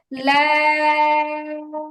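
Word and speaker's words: لام: আলিফ লাম র আচ্ছা আপু, লাম এরকম হবে না, উচ্চারণটা এমন হবে লাম, লা বলে লাম চার আলিফ টান হবে।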